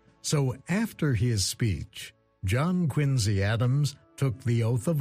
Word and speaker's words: Quincy: a biography of john quincy adams quincy incidentally is how the family pronounced it the historian tells this